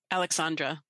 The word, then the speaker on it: Aleksandra: How do you pronounce it? Aleksandra.